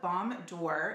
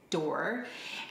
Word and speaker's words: Balm D'Or: It is called Balm D'Or, and that's how you pronounce it, D'Or.